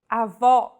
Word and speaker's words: avó: Avó. This word means grandmother. If said with a closed vowel, it would mean grandfather, and with no accent at all, avo.